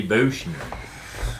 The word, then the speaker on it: Buchner: And I don't know if we're pronouncing this right. These days it may be Buchner. No, I've heard him say Buckner.